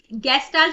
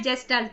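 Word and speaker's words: Gestalt: next question, which of the following principles is central to गेस्टाल्ट, गेस्टाल्ट भी बोल सकते हैं, जेस्टाल्ट भी बोल सकते हैं, ठीक है, ये प्रोनाउंसिएशन का डिफरेंस रहेगा, यानी कि गेस्टाल्ट साइकोलॉजी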